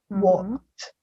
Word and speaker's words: walked: So this verb ends in ed, but the pronunciation is with a T at the end. Walked.